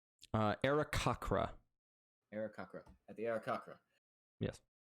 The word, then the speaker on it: Aarakocra: How do you pronounce their name? Aarakocra.